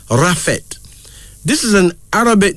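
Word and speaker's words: Raffet: b o then this r a f f e t pronounced rafet this is an Arabic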